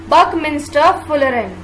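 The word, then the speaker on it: Buckminsterfullerene: इसे किस तरह से हम बोलते हैं, कैसे प्रोनाउंस करते हैं, बकमिंस्टर फुलरेन।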